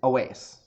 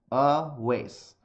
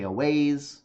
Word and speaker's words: Awais: So my name, I know this comes up a lot. My name is Awais. Awais. People generally like to joke. They say Awais, which is also fine. I don't really mind that. It's pretty easy if you look at it phonetically, but because people see that it's foreign, like they try to do it.